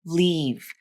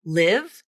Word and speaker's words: leave: for your listener and if you devoice that final V consonant and instead pronounce it like an F consonant we need to live now that could sound like Leaf which is another real